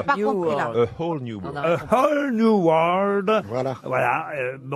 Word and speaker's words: A Whole New World: A whole new world.